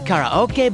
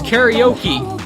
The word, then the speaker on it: karaoke: it right karaoke there it's karaoke not karaoke god damn then there's